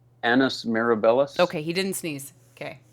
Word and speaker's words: Annus Mirabilis: Annus Mirabilis. Okay, he didn't sneeze. Okay, just making sure. No, I butchered it though. Let's see. No, I think you got it right. Mirabilis. Annus Mirabilis, yep.